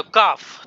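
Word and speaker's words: calf: पर काफ, तो ये काफ में जो एल है वो साइलेंट है।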